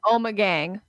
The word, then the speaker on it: Ommegang: of Thrones for the throne thank you it's pronounced Ommegang your intro is so professional I felt like